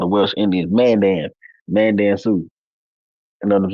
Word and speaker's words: Mandan: You said Dan, just like the Mandan, Mandan. Dan, right?